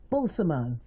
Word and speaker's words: Balsamo: First of all, Steve Balsamo.